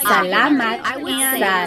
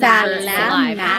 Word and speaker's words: salamat: So the letter A, not like an opera singer. It's not ah, but really like your mouth ah. So let's practice saying salamat. Sometimes in English the letter A is very short. It's not salamat. Yes, okay. We don't want it flat. So let's talk about pronunciation. It's really just like in the middle.